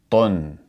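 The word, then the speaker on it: طٌ: So we would pronounce this as tun, tun.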